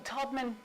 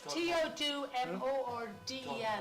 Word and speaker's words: Todmorden: Say it again, Todman. It's Todmorden, but you know the way it's pronounced.